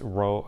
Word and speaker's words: rho: called this thing rho it looks kind of like p but it's pronounced rho r o h is